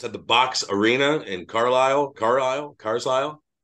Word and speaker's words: Carlisle: And Carlisle, or whatever the fuck, however you pronounce it. How you pronounce it? You got it right the first time. Carlisle. Yeah. It's fucking Carlisle.